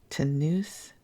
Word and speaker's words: Tonoose: In town for his annual physical examination, Tanus, it's spelled Tonoose, demonstrates to Charlie, Bunny, and the kids that he is still strong as a bull.